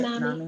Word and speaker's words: NAMI: NAMI.